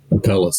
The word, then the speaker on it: Apellis: Apellis, that's right.